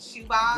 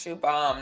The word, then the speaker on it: Siobhan: a guy and shoe shoebox is that how you say it shoebox yes shoe bomb not shoebox SpongeBob a shoe bomb